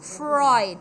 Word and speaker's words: Freud: is again repeat it i repeat after me it's freud okay again freud then they will imitate